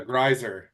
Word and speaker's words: Grisier: you I'm good dude did I pronounce your last name right no you didn't I did it's a it's a giser is the way you pronouncer yeah sorry sorry yeah